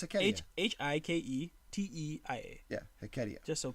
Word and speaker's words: Hiketeia: It's Hecatia. Hike. Down. Written by my boy. As I was spelling it. What? Oh, no, it's Hecatia.